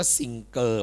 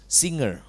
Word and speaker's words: singer: เก่ง พ่อ ที่ เก่ง ไม่ พูด ว่า ซิงเกอร เพราะ ไม่ มี ใน โลก ของ ภาษา ตัว นี้ ต้อง พูด ว่า ิอ เป็น เสียง ง งู จำ เอา ไว้ Singer Singer และ ตัว นี้